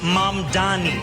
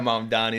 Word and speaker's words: Mamdani: And furthermore, the name is Mom Donnie. M A M D A N I. You should learn how to say it because we got to get it right.